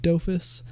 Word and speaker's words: Dofus: this one was the doofus time video and hurt all right so I'm gonna address this now I say doofus I mean sorry I say doofus I know it's pronounced dofus but I have played